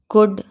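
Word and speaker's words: could: पढ़ेंगे फॉक अब इसमें वल्ड कुड शुल्ड नहीं पढ़ेंगे एल लिखा हुआ तो हम इसको कैसे पढ़ेंगे वुड कुड शुड यह अक्सर मेरी बच्ची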